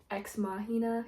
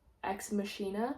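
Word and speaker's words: Ex Machina: He also wrote um exmahina, if that's how you say it. I used to say exmachina, which don't think that's right.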